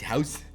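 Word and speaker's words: huis: use h-u-i-s don't worry about it um it's pronounced house uh you with your knowledge of of Blue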